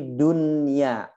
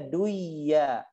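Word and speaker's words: دنيا: maka tidak boleh diidghamkan, seperti dunya dan sinwa, nggak boleh bacanya duya, siwa nggak boleh ya, nggak boleh bacanya duya, siwa nggak boleh.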